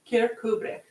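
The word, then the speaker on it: Kirkcudbright: for you it's spelled k-i-r-k c-u-d-b-r-i-g-h-t so it looks like kirk cud bright it's not pronounced that way kubrick the cavers of kirkuber now i i do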